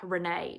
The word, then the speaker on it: Rayne: Let's go into Renee. Now, it's so hard to talk about Renee every time I look at my notes because once again, it's spelled Rayne.